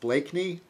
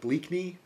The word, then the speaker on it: Blakeney: Even though my last name is pronounced Blakeney, it looks like Bleakney, and sometimes I think, yeah, okay.